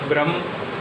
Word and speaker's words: ब्रह्म: इन दोनों को उच्चारण करते हैं तो एक शब्द है अपने पास ब्रह्म। यहाँ पर स्पष्ट रूप से दिखाई दे रहा है आपको ब्रह्म बोलने में कि सीने पर थोड़ा जोर पड़ता है।